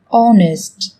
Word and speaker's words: honest: Trong tiếng Anh cũng có một số từ mà cách viết chúng ta thấy xuất hiện chữ cái h, nhưng khi phát âm thì chúng ta lại không cần phải phát âm này, người ta còn gọi là âm h câm.